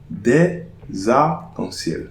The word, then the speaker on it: arcs-en-ciel: But des arcs-en-ciel. So, here, I'm not pronouncing the liaison between the S and the N here.